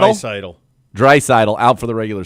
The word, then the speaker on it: Draisaitl: Draisaitl.